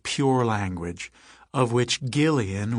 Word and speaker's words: Gillian: pure language, of which Gillian with a hard G was supposedly an example.